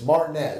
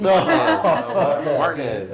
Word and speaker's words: Martinez: We moved to Augusta, Georgia, and I went to Martinez Elementary, which I later was told I was mispronouncing. It's Martinez. Martinez.